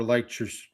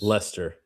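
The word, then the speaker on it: Leicester: And they've got uh and that's but that's not where Lure Lure City is. Lester Lester City, excuse me.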